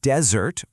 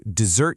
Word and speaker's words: desert: Or you could get lost in a desert. Or you could ask a friend not to desert you.